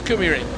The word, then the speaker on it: Kymiring: Here comes the Finnish pronunciation bus. Yeah, he came past his little scooter and he said, "It's Kumi Ring."